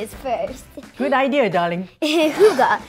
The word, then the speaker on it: hygge: Hygge, pronounced hygge, is spelled H-Y-G-G-E, but pronounced H-O-O-G-A.